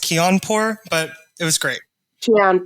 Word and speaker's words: Kianpour: by k can canapore and we kind of knows that i can't talk properly how did i go with your pronunciation there it's all right um my last name is pronounced keonpor but it was great